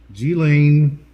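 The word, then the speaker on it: Ghislaine: fuzzies guys i want to make sure i pronounce her name correctly g-lane maxwell is now in federal custody number one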